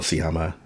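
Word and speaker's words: Sciamma: a lady on fire so see hama that's how he pronounced her name sorry i'm all over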